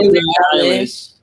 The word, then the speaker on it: Billie Eilish: Billie Eilish.